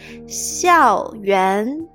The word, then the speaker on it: 校园: 校园校园校园 xiào means school.